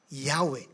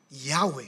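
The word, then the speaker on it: Yahweh: o wh wy okay ay bibigkasin as yahwe yahwe sabihin nga yahwe at ang Latin equivalence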